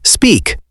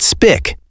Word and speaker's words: speak: Look at the word speak. Yes, speak. Notice the long E sound. It is not spick, it is speak.